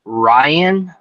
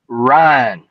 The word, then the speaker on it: Ryne: This was the first time that I ever learned about Ryan versus Ryne. Ryne Sandberg. Exactly. It was pronounced Ryne. R-Y-N-E.